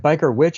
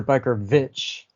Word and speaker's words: BikerVVitch: Is it Biker Witch or Biker Vitch? Just say it like a W.